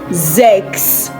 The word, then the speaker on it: sechs: Now we have 2 S in this word, but one is pronounced Z and the other is pronounced S. Why is it like that? When you have S starting a word or the syllable of a word, it is not pronounced S. It is pronounced Z, like a Z sound.